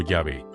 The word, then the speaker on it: Yahvé: El nombre más sagrado y misterioso de Dios en toda la Biblia es YHWH, pronunciado comúnmente como Yahvé.